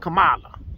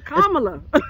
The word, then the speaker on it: Kamala: kamla this it's K Kamala it's k anyway that's how you pronounce it comma like the comma La so um anyway so